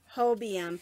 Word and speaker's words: Hobium: because I am horrible with understanding how to pronounce names and so the name of the company is Hobie M and they sent me a box of yarn